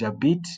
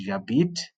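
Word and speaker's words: j'habite: I stay in Zimbabwe so is jait not because sometimes there's a tendence of wanting to read this in English or wanting to pronounce it as it is written so it's jait that one is it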